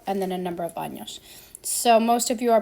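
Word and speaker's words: años: be any you want to be really careful to pronounce that enye sound the n a sound is uh like remember it's an n and a y nia sound tengo kator says and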